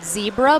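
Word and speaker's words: Zcebra: using for their paddles it's called zebra but it's spelled z c e b r a it's a Spanish brand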